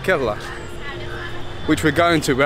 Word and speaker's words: Kerala: They pronounce it Kerala.